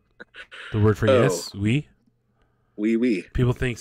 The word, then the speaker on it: Oui: Oui. People think it's we, like W-E. Suck my blur. But it's not. It's oui. It's almost two syllables. They're just kind of mixed together.